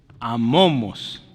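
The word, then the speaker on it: ἄμωμος: Esta es mu y se pronuncia como M, es amomos. Amomos, acuérdense que esa que parece W es omega, es una O larga.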